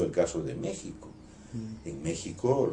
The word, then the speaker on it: México: En México, los mexicanos nunca escribirán México con J, no obstante que la pronunciación es modernamente con J. Lo que ocurre es que esa X se pronunciaba Eche, la palabra era México.